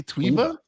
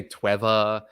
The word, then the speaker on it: Tweeva: how do you say tweeva yeah some people say Trevor uh it's tweeva it's it's made to sound a little bit like TV okay and uh we